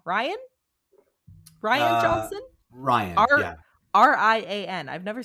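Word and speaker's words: Rian: Ryan, yeah.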